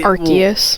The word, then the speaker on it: Arceus: Arceus? Yeah, I think so. The hard C. I think it's a hard C. Okay, Arceus.